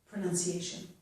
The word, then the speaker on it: pronunciation: Here the C, the letter C, is making the S sound, pronunciation.